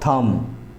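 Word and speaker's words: thumb: है ना जिस तरह से बम कॉम और थम यह तीनों शब्द में लास्ट में बी है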